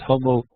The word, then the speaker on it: homo: In Latin, there's no hard G. I learned from years of high school Latin. So it's homo religiosus, or religious man.